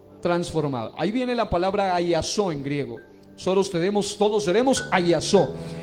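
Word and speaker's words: ἀλλάσσω: Hay una palabra que es la palabra que aparece, y busque en 1 Corintios 15, 51 al 53, y es la palabra ayasó. Se escribe con doble L y doble S, ayasó.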